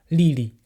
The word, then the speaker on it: Lili: C'est-à-dire que le premier c'est li et le deuxième se prononce en ton neutre. Lili.